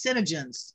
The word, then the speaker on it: SeneGence: called scentsy am i saying it wrong it's senegence sense looks is a company in yeah okay